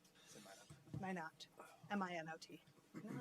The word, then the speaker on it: Minot: Is it Minot or Minot? Minot.